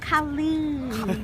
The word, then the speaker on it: Colleen: It sounded out Colleen. It rhymes with Marlene.